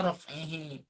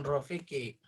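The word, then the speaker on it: رفعه: Bacanya raf'ihi, bukan rafiki.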